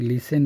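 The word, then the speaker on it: listen: এখানে বলছে লিসেন and read. লিসেন and read. L আই S lease TE এন লিসেন। এখানে টির উচ্চারণ হবে না।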